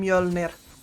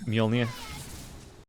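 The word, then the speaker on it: Mjölnir: I should be saying Mjolnir. It's, yeah, Mjolnir.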